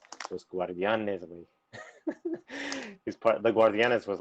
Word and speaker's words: Guardianes: Los Guardianes.